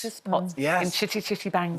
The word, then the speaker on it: Caractacus Potts: Caractacus Potts? Caractacus Potts. Caractacus Potts.